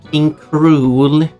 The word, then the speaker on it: King K. Rool: His pronunciation is also King Cruel. Both I used.